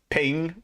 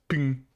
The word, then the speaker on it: PNG: background is transparency right it's pronounced ping no man it's pronounced ping the eye is silent